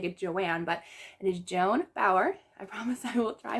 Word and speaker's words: Joan Bauer: for this one i chose tell me by joan bauer and yes i did pronounce that right thank you to someone who